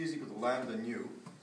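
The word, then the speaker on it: ν: So C is equal to lambda nu. This is this B here is actually pronounced nu. It's a Greek letter.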